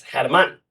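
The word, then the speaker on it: Germán: German, it's German, but it's German.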